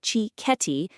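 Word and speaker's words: cicchetti: It's time for chiceti. Pronounced chi ketti.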